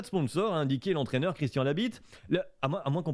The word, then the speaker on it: Labit: n'y aura pas de sponsor indiqué l'entraîneur christian labit tu as moins qu'on prononce pas le tgv ça s'écrit vraiment comme